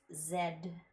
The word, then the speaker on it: Zed: what especially because in in England and the commonwealths it's pronounced Zed you can sound pretentious